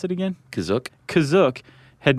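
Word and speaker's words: Kashyyyk: Planet C is that how you say it kazook that's how it's pronounced in the episode the holiday special but it's also pronounced different ways other times I would have pronounced it Cas go spell it k a h y y YK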